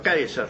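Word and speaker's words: Caesar: Cerón K Claro porque si se pronunciaba se pronunciaba como una K se pronunciaba kaisar no se pronuncia además el diptongo se pronunciaba con a e kaisar Esa era la pronunciación Kaiser o sea los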